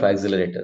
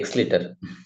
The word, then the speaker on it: accelerator: is the meaning of axelerator the students uh I wanted to know whether they know it or not they say x lit so axelerator is the correct pronunciation excuse somebody said something